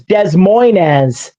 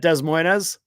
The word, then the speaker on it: Des Moines: Much like a city in Iowa, people mispronounce it as Des Moines. You've actually heard people say it, Des Moines?